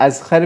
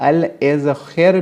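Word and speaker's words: الإذخر: घास जो है ना, उसको अक्सर लोग अज़खर भी कहते हैं, कुछ लोग अल इज़खर भी कहते हैं और इज़खर भी कहते हैं इस घास को, ठीक है। मुख्तलिफ़ तरीके से अरब लोग प्रोनाउंस करते हैं, ज़्यादातर अल इज़खर कहते हैं।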